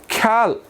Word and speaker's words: ख्याल: अनि अर्को हेर्नुहोस्, ख्याल, ख्याल। अब यो ख्याल चाहिँ एकैचोटिमा उच्चारण हुन्छ विद्यार्थी भाइ बहिनी।